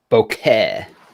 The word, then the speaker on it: bokeh: Well, I was thinking about switching because these are a little bit lighter, but to the bokeh, the bokeh. Nice. That's how Very, I very pronounce it.